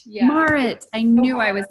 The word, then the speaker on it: Marit: I want to say Marit, but I think I'm saying it wrong. It's Marit. Yeah. Marit.